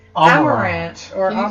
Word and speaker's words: Amarant: And so Zidane, previously known as Zidane, in this podcast, finds Amarant, who you remember from my first story as